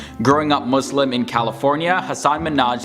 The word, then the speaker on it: Hasan Minhaj: Everyone that says your name says Hasan Minhaj. Yeah, but the real way you pronounce it, it's Hasan Minhaj.